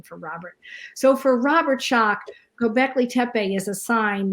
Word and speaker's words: Schoch: As far as Robert Schoch is how you say that.